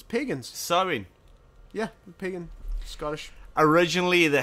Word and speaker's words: Samhain: Samhna, pronounced Samhain, translating to summer's end, was a traditional pagan festival held in Scotland for thousands of years.